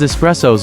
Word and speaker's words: espresso: means expressed or pressed out this is because espressos are made by forcing very hot water under